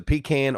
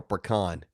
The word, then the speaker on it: pecan: want to know is a pecan or pecan kin Sulli a or b a is pecan B is PK n I can is no longer allowed to watch our show he said Jana you said it right the first time in its peak and